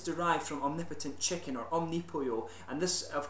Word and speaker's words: Omnipollo: And the name is derived from omnipotent chicken, or Omnipollo. And this, a lot of people I've heard have pronounced it Omnipollo, but pollo, of course, is Spanish for chicken, and that's the correct pronunciation.